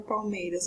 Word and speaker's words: palmeiras: Qual é a sílaba mais forte da palavra palmeiras? Ó, palmeiras. Então, nós vamos contar até aqui. No caso de escansão, nós não vamos contar a última sílaba se ela não for uma sílaba tônica, tá? Então, nesse caso, a sílaba mais forte da palavra palmeiras é o MEI.